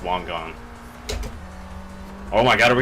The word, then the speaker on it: Wangan: you want to pronounce i'm pretty sure it's supposed to be pronounced wong gong oh my god are